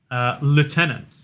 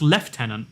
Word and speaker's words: lieutenant: So, in America, it's pronounced lieutenant. I don't know why. I've looked into it so many times, and it's like, French is the explanation. It's pronounced lieutenant in English. The LUI becomes left.